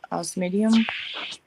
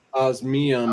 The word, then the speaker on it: osmium: So do you guys have any other currency besides the US dollar or gold and silver or osmidium? Is that how you say it? Osmidium? Osmium. OSMIUM. Osmium.